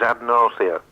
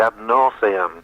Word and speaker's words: ad nauseam: I'd like to talk about your use of the Latin phrase ad nausea. Ad nausea. The trouble is, if you check the dictionary, it's got an M on the end, ad nauseam.